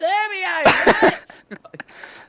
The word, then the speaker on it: Hermione: no, it's Hermione. I'm gonna Google that. Hermione. Yeah. It's spelled Hermione though.